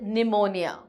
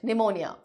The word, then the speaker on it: pneumonia: know ill very badly she had pneumonia the p is silent i'm sure you know it pneumonia she would lie in